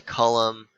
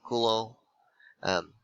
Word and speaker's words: Coulomb: was hulo um and i say like that because he was french so don't say column or you know anything weird like that you would pronounce the name kulo um and it the the